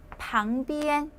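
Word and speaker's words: 旁边: 꽁스 방비엔 옆쪽이 되겠습니다 근데 여기 잠깐 선생님 엔은 원래 엔 경성으로 있지 않나요 근데 유일하게 옆쪽 할 때는 방비엔 일성으로 발음하고 왼쪽 할 때는 주업 비엔 오른쪽 비엔 그때는 경성으로 있는데 유일하게 옆쪽 할 때는 방비엔이라고 있습니다 자 주의해 주시고 우리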